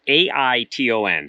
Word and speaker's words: Aiton: And this one it's either Aiton or Aiton. It's Aiton. So however you say that in Minnesota, that's how it's pronounced.